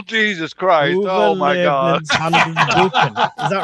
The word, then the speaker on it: Överlevnadshandboken: Did I pronounce it anywhere close to right? Överlevnadshandboken. Oh, Jesus Christ. Oh, my God. Overlevnadshandboken.